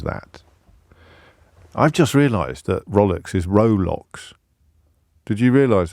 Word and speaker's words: Rolex: It's pronounced Rolex. It's one of those sort of pronunciation glitches that are so popular in the English language.